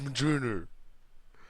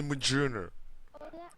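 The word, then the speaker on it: Mjolnir: first major stop stop it's not m Maj it's majer do you know how it's spelled it spells majer shush maer if you if you if you follow Halo follower you have to say mauner maer how many people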